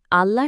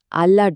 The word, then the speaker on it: আল্লাহ: আল্লাহ শব্দটার অক্ষরগুলো খেয়াল করুন। আলিফ, লাম, লাম আর হা। এই প্রত্যেকটা বর্ণই হলো কন্ঠ বর্ণ। মানে এগুলো গলার ভেতর থেকে উচ্চারিত হয়। এখানে ঠোঁটের সাহায্যে উচ্চারণ করতে হয় এমন কোন বর্ণ যেমন ধরুন ব, ম বা ফ নেই।